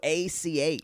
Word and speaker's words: Brooch: It's not even spelled like brooch, like a woman. No, it's weird. Like Broach. What's that mean? Rhymes with roach.